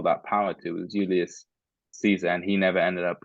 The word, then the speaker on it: Caesar: the other one is Julius Caesar or Julius Kaiser, if you want to, have the correct pronunciation.